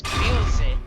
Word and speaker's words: Bilze: Now to Bosev's throne, which interesting enough in the Japanese they pronounce his name as Bilze. So I'm kind of wondering why is it Bosev when they pronounce it Bilze? Or maybe they're saying Bilsev. No, I actually highly doubt that. I hear quite clearly them saying Bilze.